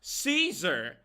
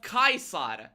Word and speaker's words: Caesar: But like it is not Caesar. Caesar is an anglican pronunciation of Kaisar. It shouldn't even be Kaisar. It should be Kaisar.